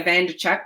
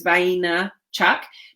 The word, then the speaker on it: Vaynerchuk: is Gary it's pronounced and Vaynerchuk that's how it's spelt most people say bando Chuck but it's vain Chuck but most people call him Gary B okay